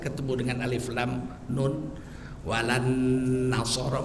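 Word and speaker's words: ولا النصارى: Walan nasara, bacanya begitu, bacanya, tulisnya enggak.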